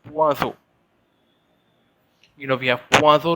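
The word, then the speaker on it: poisson: fish is quite interesting fish is known as puazo in french it's p o i double s o n swazo in french puaso you know we have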